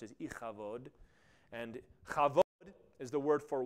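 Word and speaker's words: Ichabod: she names her son ikabod which as I pronounce is ikabod and is the word for weight or Glory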